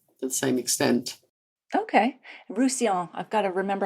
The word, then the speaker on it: Roussillon: the same extent okay rouson I've got to remember how to pronounce that because it has two L's in it but we don't say the L's obviously I just got back